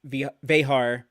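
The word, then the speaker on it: Vejar: And the directors on these were other DS9 regulars, Steve Posey, Winrick Colby, Mike Vehar, always get his name wrong, got it right that time.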